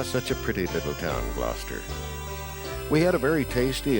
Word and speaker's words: Gloucester: air now we're entering gloucester if i were to pronounce it the way it's spelled it would come out glaucester but then when you're